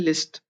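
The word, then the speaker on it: лист: अब ये लिस्ट लिसत है, पर इसको पढ़ते हैं लिस्ट।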